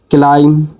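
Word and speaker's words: climb: होता है ऐसे ही सी एल आई एम ए क्लाइम क्लाइम हो जाता है जिसका मीनिंग क्या होता है चढ़ना हो जाता है ठीक है इसमें क्लाइम में बी साइलेंट होता है तो आप बी को काट दीजिए इसमें से ठीक है सीएल शुरू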